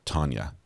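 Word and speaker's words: Tanja: is pronounced tenia but you say it like Tanya so I should say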